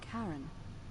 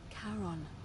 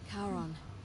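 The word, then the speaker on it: Charon: a coin it's just as you described it pronunciation is a little off the name you heard wasn't Karen it was c h a r o n as in Caron the ferryman of the Dead karon who in exchange for the right coin helps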